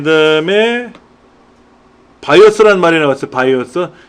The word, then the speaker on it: BIOS: 그 다음에 바이오스라는 말이 나왔어요. 바이오스. BIOS를 그냥 우리말로 콩글리시로 바이오스라고 읽어요.